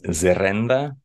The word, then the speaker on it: zerrenda: Yeah, so the word in Basque, I think I'm saying it correctly, is zerenda, which means strip, as in the Gaza strip.